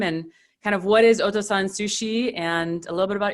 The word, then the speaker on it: Otosan Sushi: But is it Otosan Sushi? That's perfect. Yes. Yes. Okay. Otosan Sushi.